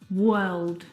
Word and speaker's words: word: The vowel sound is actually as in her.